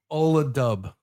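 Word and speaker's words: Ola Dubh: So Ola Dub. Is that Yeah. how it's pronounced?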